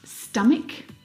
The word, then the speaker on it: stomach: Words like stomach and ache. The ch in all of these words is pronounced like a c sound.